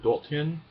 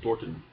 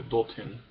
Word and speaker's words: dorthin: I've also noticed words like dorthin. I would say it almost without a glottal stop in there, sounding something more like Dorten.